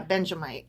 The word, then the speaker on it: Benjamite: which he sang to the Lord concerning Kush a Benjamite. Okay. Yeah, Benjamite. I was trying to add in an additional syllable.